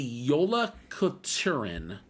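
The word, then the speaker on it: Jólakötturinn: because it's uh hard for me it's the Yola katuren um AKA my the old cat and part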